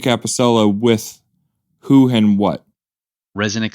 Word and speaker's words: ResoNix: Well, if you think about it, the name ResoNix is a play on two words: reso, resonance, and nix, like getting rid of.